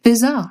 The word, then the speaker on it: bizarre: Mais il y a une chose intéressante qui arrive aux "I" non accentués dans la prononciation RP- il a tendance à se transformer en [ɪ] comme dans "bit" cela signifie que dans la RP, vous pouvez vraiment entendre la différence entre "bazaar" (RP) et "bizarre" (RP).